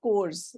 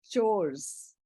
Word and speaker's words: chores: It is not course. It is household chores.